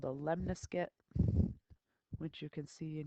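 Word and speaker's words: lemniscate: graph is called a lemnis get which you can see in your notes rhymes with triscuit so this lesson today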